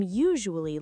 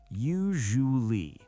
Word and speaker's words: usually: I am usually late. Okay, 5. The pronunciation, usually. Don't say usually. Use the buzzer sound, zh.